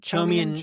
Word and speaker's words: Chaumian: Like I Chaumian think eCash, is that how you say it? Chaumian, yeah, like David, Chaumian?